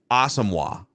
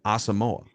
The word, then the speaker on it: Asamoah: But there's like a wave of people this week that are saying it's Asamoah. No. Brian Asamoah. Until the Vikings say otherwise, we're going to go with their pronunciation, Asamoah.